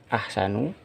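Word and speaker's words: أحسنُ: Tidak boleh ahsanun. Bacanya adalah ahsanu. Kenapa demikian? Karena ahsanu ini adalah isim ghairu munsharif.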